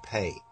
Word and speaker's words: Pe: Or some say pay, right? This is the af, right? Pe. This actually correctly is a F sound, but sometimes it can be pronounced or intoned as a P sound, right?